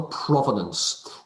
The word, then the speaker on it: provenance: we call the provenance the prove nance e that remembers how to spell it p r o v e n a n c e prove nance e prove nancy prove sounds like a musical number um mr partridge is